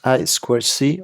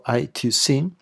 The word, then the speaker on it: I2C: And I2C, Interintegrated Circuit, pronounced I2C or I2C, Also synchronous protocol master-slave, but it uses only 2 wires.